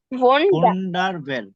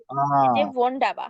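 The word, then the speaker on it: wunderbar: sorry হ্যাঁ সেট তারপর হচ্ছে বোনার বার হ্যাঁ ভোন্ডারভেল আচ্ছা এখানেও দেখেন ডি এর ডি এর পরে আর আছে আবার বি এ এর পরেও আর আছে তাইলে আমরা এখানে হচ্ছে আর গুলো উচ্চারণা করে ভোন্ডাবা হ্যাঁ ভোন্ডাবাটা হয় না ভোন্ডাবা হ্যাঁ ওয়ান্ডারফুল আচ্ছা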